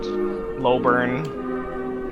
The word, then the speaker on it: Lowburn: Lowburn. Okay, thank you. It's like slow burn, but it's meant to be like log, but Yeah.